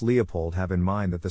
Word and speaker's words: Leopold: Phonetic Alphabet to pronounce Leopold have in mind that the size of the syllable indicates where the accent of stress is in this case the accent is in the first syllable corresponding to Lee low